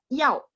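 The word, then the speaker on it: 要: Nomor 16 yao. Yao nada 4 ya.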